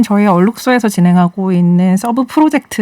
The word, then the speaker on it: 얼룩소: 합니다 오늘 경제 탐사 a 쑤 라고 써있는데 얼룩소 라고 읽어 달라고 하셨어요 얼룩소 에디터 싼 d